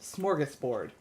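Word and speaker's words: smörgåsbord: I always try to put an R in there when there isn't. Smorgasbord.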